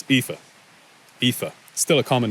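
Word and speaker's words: Aoife: numeral page 26 people's names first aif it's FIFA FIFA still a common name in Ireland today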